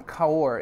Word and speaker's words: Cahors: this wine is from kaur it's from the south of france southwest part of france south of bordeaux the region is called again color c-a-h-o-r-s with a silent s okay that's the where